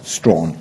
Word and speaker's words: Strachan: people in that area, they pronounce the village, which is spelt Strachan, as Strawn.